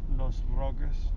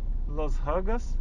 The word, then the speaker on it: Los Roques: Called Los Roques. Los Hugas? Los Roques. Roques? How do you spell that?